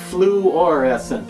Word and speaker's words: fluorescent: Yeah, it's not fluorescent, it's fluorescent is the way it's spelled, F-L-U-O-R. Fluorescent, that means it reacts